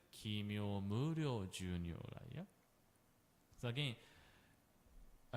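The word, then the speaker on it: 帰命無量: The point is when we pronounce O, it's not the O. There will be the U, Kimyo Muryo. If when you see the line over O, letter O, there is a U, like a mood. U will be followed. But again, not like pronouncing too clearly like Kimyo U Muryo U. Not in this way.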